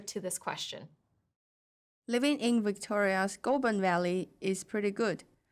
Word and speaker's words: Victoria's: than one syllable, like the word Victoria's, where the stress needs to be on the second syllable.